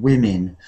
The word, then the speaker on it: women: Women for the plural, woman for one and women. So when we say the plural women, I know it has O and E, but the sound is I, like village, women.